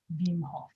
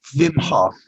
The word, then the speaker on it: Wim Hof: Well, it's WIM, which I assume is pronounced Vim. Vim. Right? Vim. F-A-O-F. Hof. Vim Hof. Wim Hof. You have to sort of snarl your nose. Wim Hof.